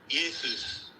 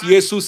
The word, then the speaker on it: Jesus: the name is pronounced Yesus. The J is silent. Now even Do you know why it is pronounced Yesus in Latin?